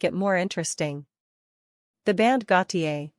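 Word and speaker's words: Gotye: letters will make it more interesting the band Gautier pronounced go t i is a re-spelling of the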